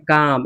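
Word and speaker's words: calm: सी ए एल एम, हमने कहा ए ओ यू के बाद एल, ए के बाद एल है ना, तो एल क्या हो गया? साइलेंट। हम सी ए एम पढ़ते हैं, काम, इसको क्या पढ़ते हैं? काम।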